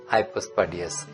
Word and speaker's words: হাইপোস্পার্ডিয়াস: দিকে থাকে যদি তাহলে নিচে মানে হাইপো তাহলে হাইপোস্পার্ডিয়াস আমরা বলবো উচ্চারণটা হাইপোস্পার্ডিয়াস নিচের দিকে প্রস্রাবের রাস্তা